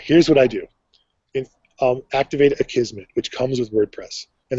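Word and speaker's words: Akismet: So use a Kismet, which is A-K-I-S-M-E-T. Most people fumble on pronouncing that.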